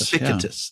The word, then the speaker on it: Epictetus: Epictetus. Epictetus.